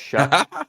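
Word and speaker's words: Shough: And then in the second round, they come back and they take the quarterback, Tyler Shuck, I still don't know why it's pronounced Shuck.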